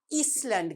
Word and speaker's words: island: Because this letter S here is a silent letter.